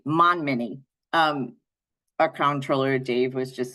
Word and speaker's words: Montminy: She's the Director of Communications for the Alzheimer's Association Connecticut chapter, and Joe Montminy, who I don't pronounce the T, Monminy.